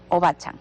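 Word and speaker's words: おばあちゃん: Entiendo que a tu mamá, tus hijas le dicen ocha Obachan, o bacha. sí. Ya, me faltaba una sílaba.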